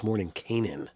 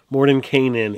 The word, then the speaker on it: Mordenkainen: to get into it, according to the Gygaxian people, it's Mordenkainen. Okay. But both names are considered accepted. Perkins said so. But yeah, absolutely. But Mordenkainen is how Gary himself, who played the character, pronounces it.